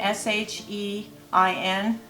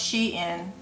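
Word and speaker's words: SHEIN: on um she in shine they call it s-h-e-i-n it's pronounced she in a little poet told me i was saying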